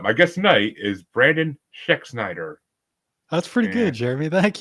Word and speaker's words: Schexnayder: because yikes but my guess tonight is Brandon schexnider that's pretty good Jeremy thank you you're Snyder you're right hey I did okay you gotta remember the a is silent but oh kind of but how you